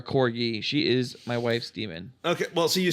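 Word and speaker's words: daemon: Damon yes it's a it is pronounced demon it is spelled Damon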